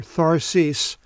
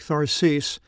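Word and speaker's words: Θαρσις: not mention Tarshish or Tharsis as it's pronounced in the Greek Tharsis anywhere in his geography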